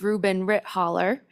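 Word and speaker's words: Reuben Ritthaler: like to present um mr rubin ritt healer if i'm pronouncing that correctly yes madam chair and i believe it's reuben rit holler so members of the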